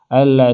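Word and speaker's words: أَلَّا: Nah, di ayat tersebut an sama la-nya dipisah. Yang seperti kita lihat ini, an la, jadi dipisah penulisannya ya, tapi dibacanya tetap sama, digabungkan. Alla ta'budu illallah.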